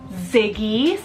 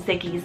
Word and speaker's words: Ziggy: one means little south or Little Wolf Conan Ziggy z i g g y Ziggy guys this